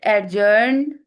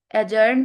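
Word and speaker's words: adjourn: The debate एडजर्न एजर्न भी हम बोल सकते हैं। डी को साइलेंट भी कर सकते हैं।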